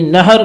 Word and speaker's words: نہر: وہ یہ ہے کہ نہر کا تلفظ کیا ہے؟ تو کہتے ہیں ہا کے فتح اور سکون دونوں طرح سے آپ اسے پڑھ سکتے ہیں، نہر بھی پڑھ سکتے ہیں